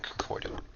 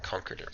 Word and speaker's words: Concordat: They've started me off here in the Torian Concordant, or Concordat, sorry, as they pronounce it here.